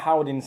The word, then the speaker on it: Howdens: How do you spell that? It's Howdens. Howdens.